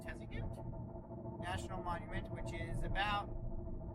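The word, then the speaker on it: Tuzigoot: on our way to i think it's pronounced tessagoot national monument which is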